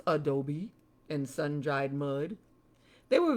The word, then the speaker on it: adobe: Houses built from 1350 to 1540 were made of stone, cemented with adobe, pronounced adobe, and sun-dried mud.